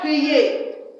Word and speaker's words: prie: Now, the next one is le verbe prier. Le verbe prier. Je prie. Please, I didn't say je priais. This is silent. Okay? This is silent. Silent. You already know that.